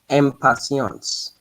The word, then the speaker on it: impatience: the first one the the n Sound and then the t is going to be imp imp impatience imp not m and patience so remember all these